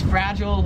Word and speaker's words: fragile: 23 is fragile, or it's fragile if you're American. Here in Australia, how they say it is it's fragile, like they say aisle, we say oh.